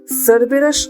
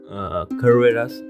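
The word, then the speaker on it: Cerberus: তো দাদা, সারবেরাস আসলে কি? সারবেরাস অ্যাকর্ডিং টু গ্রিক মিথোলজি, যেটা তার অরিজিন, প্রোনাউন্স করা হয় কারবেরাস আর সেরাবেরাস।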